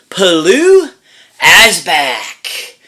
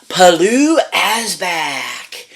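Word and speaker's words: Pilou Asbæk: looks like to pronounce but it's palu p-i-l-o-u H as back and which the A and E are like one word because of where he's from it's it's an interesting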